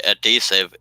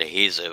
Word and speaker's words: adhesive: say go ahead oh when he saying adesive uh in the in the US that's pronounced an adhesive I just wanted to